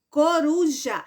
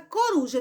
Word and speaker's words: coruja: tem três sílabas então a palavra coruja ela é trissílaba porque tem três sílabas e ela é par eu tô na porque porque a sílaba tônica dela é a penúltima Tá bom vamos